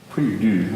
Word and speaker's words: prie-dieu: Prie-dieu, I think is how it's said in French. That's correct.